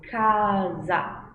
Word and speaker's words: casa: Porém, quando eu tenho SA no meio ou no final, o meu som vai ser za, como em casa, casa, como no português.